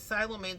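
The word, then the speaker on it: psilomelane: I think the gemstone's name is Silomane, spelled with a P.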